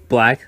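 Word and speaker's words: 6LACK: Six Lacks pronounced Black, that's so funny to me.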